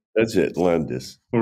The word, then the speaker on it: Landes: you are Professor Landes yes am I pronouncing that correctly that's it Landis all right I usually start my interviews by